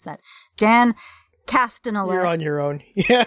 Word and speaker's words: Castellaneta: And he's voiced by Dan Castellaneta. How do you pronounce that? Dan Castellaneta.